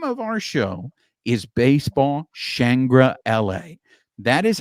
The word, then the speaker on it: Baseball ShangriLA: people may look at our show and go basball shangra law no it is not baseball shangra law the name of our show is baseball shangra La that is how it's pronounced baseball shangra La